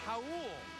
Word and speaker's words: Raul: He pronounces it Raul, Neto, Rodney Hood, Gordon Hayward, Derek Favors, and Rudy Gobert.